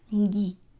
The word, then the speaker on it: Ngi: No, at the back of the throat. Ngi.